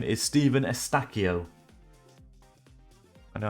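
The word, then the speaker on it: Eustáquio: I learned that this name is Stephen Estacchio. I know how to pronounce it now.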